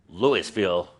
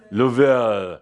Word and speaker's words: Louisville: And as I heard said today, this is not Louisville Colorado. (Adamus mocks Geoff’s pronunciation) Louie-ville. (French pronunciation) Lou-ville. Lou-ville. ‘Lou,’ like the kings, ahh, and ‘ville’ like the homes.